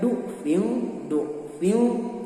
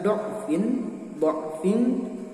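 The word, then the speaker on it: ضعف: Menurut referensi dari kitab An-Nashr bahwa Imam Hafs membacanya dhammah, dibacanya du'fil du'fa. Dan yang kedua Imam Asim dibacanya dotnya dengan fathah, dibaca do'fin dan terakhir do'fan.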